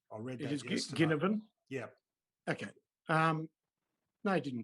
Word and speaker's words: Ginnivan: Hard to pronounce. Well, it's definitely a hard G. I read that yesterday. Ginnivan?